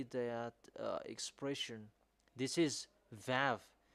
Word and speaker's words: Vav: So the shape of vav, it's really pronounced v.